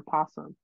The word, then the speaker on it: opossum: technical or scientific contests opossum is preferred so they're the same and they can be pronounced with its first syllable either voiced or silent or possum yeah well that's kind